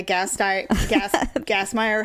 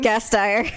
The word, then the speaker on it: Gasteyer: Will Ferrell and Anna Gassmeyer, however you say her name. Gasteyer.